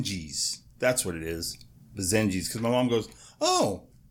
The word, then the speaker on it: Basenji: she's a binge eel is that how that's pronounced Ben Jill I think it's been Jo oh they're called bazaine geez that's what it is bazaine jeez because my mom goes oh she's a pajama